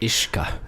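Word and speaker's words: uisce: Ishka is how it's pronounced in Ireland.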